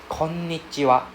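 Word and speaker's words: こんにちは: Can see the double N sound? Yes. Please pronounce the double consonant sound. Alright? So please separate the N the first N go with the first guy. So instead of saying ko is kon. Right? So konnichiwa.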